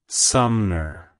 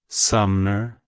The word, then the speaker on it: Sumner: calls it's pronounced as suner suner suner to pronounce it correctly emphasize the first syllable SU hm and then